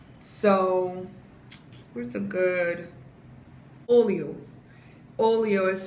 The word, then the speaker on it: olho: An H does not make a ha sound. H makes a Y sound. So, where's a good? Olho.